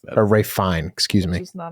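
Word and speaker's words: Ralph Fiennes: don't like that or ra fine excuse me you don't say the S either it's ra fine yeah I'm surprised KY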